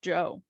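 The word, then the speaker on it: Djo: say his name again Joe Joe it's just Joe I'm sorry that was great anyway welcome back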